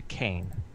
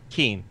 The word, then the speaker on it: Keen: Okay, I'd like to grab both the torches from the wall and toss one to Kane. Or is it all Ken? Right. How do I pronounce it, Burn? Keen. Pass one to Keen.